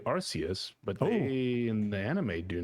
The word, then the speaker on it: Arceus: too with pokemon how do you say it arceus archaias hmm archaic well i say arceus but in the anime do not say that